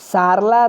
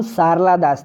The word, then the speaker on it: सारला दास: एक हैं सारला दास। सारला दास, नाम ध्यान दीजिएगा, ये गलत स्पेलिंग नहीं लिखा हुआ है, ये सही है। उनका नाम सारला दास था, सरला नहीं कीजिएगा, सारला दास।